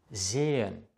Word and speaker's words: sehen: Das H, wenn es nicht am Anfang eines Wortes steht, sondern in der Mitte, wird nicht ausgesprochen. Das bedeutet, der Vokal davor, zum Beispiel hier das E hier und das E hier, wird lang ausgesprochen. Es ist stehlen, sehen, gehen. Es ist nicht stellen, säen oder gähen. Das H macht den Vokal lang, nachdem es steht.